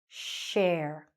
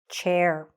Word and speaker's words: share: It's a sh at the end, okay? At the beginning. Shh, shh. Just like we say in a classroom or something, the teacher might say shh, okay? Share, share. Not chair, like what we sit on. No, share.